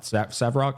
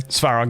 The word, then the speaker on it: Svarog: It's your boy, the robot, Savarog. Is that how you pronounce his name? Svarog, yeah.